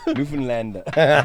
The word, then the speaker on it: Newfoundland: newfoundlander new york newfoundland newfoundland don't you dare pronounce the found the way it's written newfoundland newfoundland okay cool